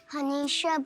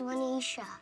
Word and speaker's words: Manisha: One day at school, someone called me Hanisha, but it was Manisha.